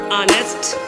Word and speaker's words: honest: and orange and egg if the first letter of the word is silent and it is definitely h there is no sound of it and next letter is